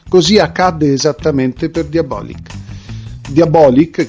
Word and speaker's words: Diabolik: accadde es per diabolic diabolic che si legge così con con l'accento sulla o nacque il primo novembre